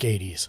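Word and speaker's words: ATEEZ: I'm saying is said but together is it pronounced 123 said ATS gamerslich said 80s right is it is saying it it's like 80s just like the AI said narica love 123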